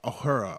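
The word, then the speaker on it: Uhura: memorably kissed Oh her a hora hora is a hora is how you say her name but she was black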